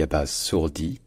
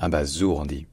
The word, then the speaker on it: abasourdi: Abas sourit ou bien abasour dit en fait c'est le même problème que pour l'infinitif bien sûr c'est estce qu'on dit AB basourir ou Abas sourdir et en fait les deux existent et pour comprendre un